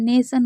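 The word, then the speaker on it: nation: नेशन हो गया। इसमें भी आई ओ एन है। और मोशन में भी आप देख रहे हैं आई ओ एन है। तो इन सभी में टी को श पढ़ा जा रहा है।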